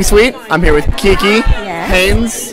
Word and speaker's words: Haynes: i'm here with kiki haynes haynes haynes but not spelt like the underwear pronounced the same but spelled differently but jess is big